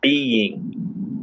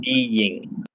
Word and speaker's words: being: This first one is it almost sounds like there's a Y sound. Being, being. So we have two distinct syllables.